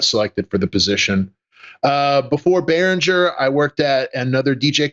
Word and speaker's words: Behringer: You pronounced it Behringer, right? Yeah. He said Behringer. It was Behringer, yeah. Yeah, there you go. Yeah. Okay, that is the definitive way to say it.